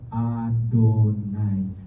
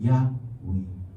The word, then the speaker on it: YHWH: Jadi tulisannya YHWH tapi huruf vokalnya itu diambil dari vokal Adonai untuk mengajarkan kepada kita kalau ketemu kata YHWH bacanya Adonai. Makanya saya heran ada orang-orang Kristen yang katanya belajar bahasa Ibrani, yang katanya belajar budaya Semit, tetapi nama Tuhan disebut-sebut Yahweh. Nama Tuhan disebut-sebut Yehovah.